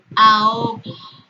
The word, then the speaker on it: ahogo: Ahogo. Tengo una vocal abierta A y una vocal abierta O. La H intermedia no interfiere en la formación del hiato, porque esto es un hiato, una vocal abierta y abierta.